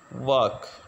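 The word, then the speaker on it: walk: के बालक नहीं है इसमें भी एल साइलेंट है इसमें इसकी प्रनंसीएशन होगी वर्क वर्क नहीं इसको पढ़ेंगे बल्कि इसकी जो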